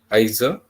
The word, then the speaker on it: Iser: that i have shared in that video to a lady starts uh with ease and that see to you know pronounces it as isa okay so these are